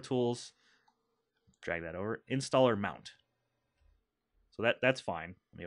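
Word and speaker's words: mnt: M-N-T, we pronounce that as mount.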